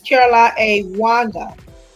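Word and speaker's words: Caroline Wanga: I want to pronounce her name correctly. It's Caroline A. Wanda.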